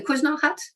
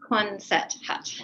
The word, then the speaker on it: Quonset hut: And my other question would be and I can't pronounce this word, I know I can't, the Kuzna hut? Quonset hut.